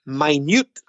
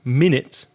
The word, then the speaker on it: minute: Reza yeah you see it could be minut which means tiny very small it's exactly the same spelling but it's different pronunciation this is a very very very very small particle it's minut so of course the stress changes when you're speaking about time and 60 seconds the stress is on the first syllable minutes but with Reza's example it falls on the second syllable minut it's a minut piece